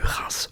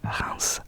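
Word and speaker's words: Reims: J'ai eu Reince aussi le Champagne en Champagne Reince dans la région du Champagne. Je vous dis ce que je sais de vos villes. Reins reince reins qui s'écrit Rems. C'est insupportable.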